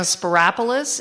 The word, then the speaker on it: Siropoulos: I'm Siropoulos. It rhymes with metropolis.